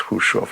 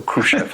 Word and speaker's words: Khrushchev: That's pronounced Khrushchev, or Khrushchev is fine too.